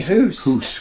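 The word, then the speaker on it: Hoose: Though it's pronounced, it has house here, but actually it should be Hoos.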